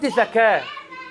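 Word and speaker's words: ذكاة: The word zaka with tongue out is sluting to slaughter some animal and the word zaka without tongue out is to purify or to kill. So it is very minor difference in pronouncing but it has very big difference.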